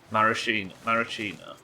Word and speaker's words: maraschino: Mascarano? Montpellier? But they're in almond extract. Maraschino.